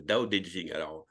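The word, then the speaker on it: 道: donc là c'est le DAO le D en chinois se prononce entre le D français et le T français donc c'est un peu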